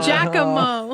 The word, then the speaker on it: Giacomo: Absolutely, but with the Spiritomb Giacomo, or however you pronounce that, Giacomo. It's Giacomo.